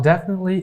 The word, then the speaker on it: definitely: So this definitely, this T here will be totally unpronounced, silent T. So how do we pronounce that? Definitely. Definitely. We don't say definitely. We say definitely.